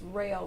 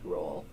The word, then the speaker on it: rail: It's rail, not roll.